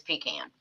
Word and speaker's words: pecan: Did she say pecan? I did. That's how I pronounce it. That's the right way to say it, is pecan.